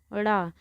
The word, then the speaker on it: ड़: देखिए, ये ड़ा में जो नीचे ये बिंदु लगा है, अगर हम इस बिंदु को हटा देंगे तो ये किसका काम करेगा?